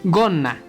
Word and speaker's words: gonna: Otro ejemplo está en la palabra gonna, que significa falda. Hacemos una pequeña pausa por la doble N y se pronuncia como gonna. Bueno, se diría algo así como gonna.